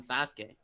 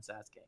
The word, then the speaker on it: Sasuke: grow like Naruto and Sasuke, and they're not my favorite characters in Naruto by a long shot. Nux, could you please stop the cultural appropriation and pronounce Sasuke properly?